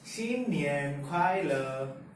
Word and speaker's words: 新年快乐: We say 新年快乐. 新年快乐. It's written as 新年快乐. This, as we all know from 谢谢, is pronounced as 谢, and this means new.